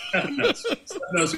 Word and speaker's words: Stefanos: Stefanos would be the way that my family would say it.